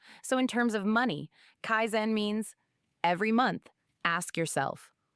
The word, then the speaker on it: kaizen: Habit number six, Kaizen. It's pronounced kaizen.